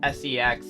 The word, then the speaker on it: sex: I mean six is spelled s e x in Icelandic and pronounced sex.